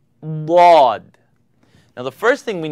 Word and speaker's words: ض: It's called dad, dad.